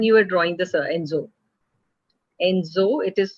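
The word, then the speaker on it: Ensō: Enzo, it is said Enzo, but it is spelled as Nenso.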